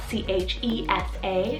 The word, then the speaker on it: Chessa: on the girls side i have chessa spelt c-h-e-s-a chesa and this one's a latin variant meaning